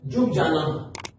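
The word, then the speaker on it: Ljubljana: Then आता है Slovenia, Slovenia का जो कैपिटल है वो है, ये एल साइलेंट है, जुबजाना।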